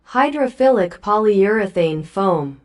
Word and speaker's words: hydrophilic polyurethane foam: The sponges of most of the commercial wet palletes are made of, spoiler alert, hydroilic folure foam. Yeah, that that thing I can I cannot pronounce it. Hydrophilic polyurethane foam.